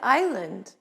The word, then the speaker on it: island: p psychology and pneumonia s isle and island t listen and castle